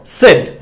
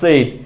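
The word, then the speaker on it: said: মনে থাকে যাতে সো ভুল উচ্চারণটা হচ্ছে সেইড আর সঠিক উচ্চারণটা হচ্ছে সেড সেইড সেড সেড সেড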